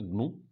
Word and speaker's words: GNU: और second point है, इसको हम प्रोनाउंसिएशन, जहाँ तक प्रोनाउंसिएशन की बात है तो प्रोनाउंसिएशन होगा इसका ग्नू, और इट इज़ रिटन